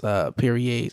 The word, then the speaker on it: Piriye: I'm pretty sure his name's pronounced Piriye, and if it's not, that's how it should be pronounced.